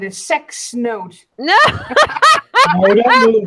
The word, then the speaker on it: CEX: In the UK, we've got a shop that's spelled CEX, and you can trade in all your old electrical equipment to them. And yeah, sex.